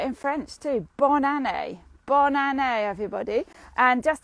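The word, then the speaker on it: bonne année: pronounce that for banane so it's bond like bon appetit bon appetit bon a like a bon a and then nay like a horse so bon a i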